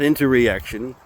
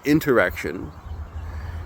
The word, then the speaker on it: interaction: If you have a bad interaction, not interreaction, a bad interaction with another, or if